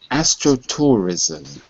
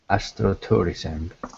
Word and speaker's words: astrotourism: grows in a p careful with the ending astrotourism astrotourism good and also appeal appeal